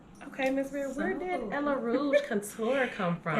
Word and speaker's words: Ella Rouge: But see, I told people they had to say it like Ella Rouge.